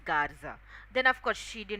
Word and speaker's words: Garza: Garcia. Then he says actually it's Garza.